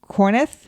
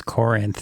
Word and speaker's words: Corinth: I say it right Scott corneth no it's Corinth the reason that Jen